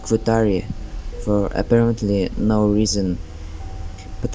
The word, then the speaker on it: Guattari: J delos and phel GUI whose name is pronounced quari for apparently no reason but I will not